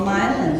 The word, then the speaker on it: Milan: like Milan it looks like it should be pronounced Milan Italy but no it's called Milan then there's Celine looks like it should be